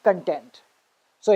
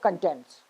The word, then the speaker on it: contents: page of your book they'll say table of contents that's wrong it's table of contents so why is it different it's very important point that you will never get to hear from any in any grammar book but this is something that is taught in spoken english and it is known as contrastive stress which is also called noun verb rule this is actually